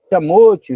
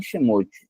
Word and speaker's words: Shemot: Não pronuncie Shamote, mas sim Shemote, diz lá, literalmente nomes.